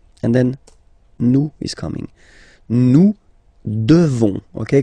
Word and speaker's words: devons: Nous devons. Okay? Classic ending ONS for nous. Okay? You just pronounce this on, this nasal. Okay? And then the S, final S is not pronounced.